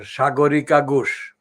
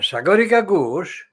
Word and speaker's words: Sagarika Ghosh: That is my pronunciation. It's not a Hinduized Hindi's pronunciation, but it's a Bengali pronunciation. Sagarika Ghosh. Now, Sagarika Ghosh has been very crafty,